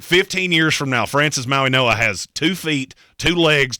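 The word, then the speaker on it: Mauigoa: Maui Noah.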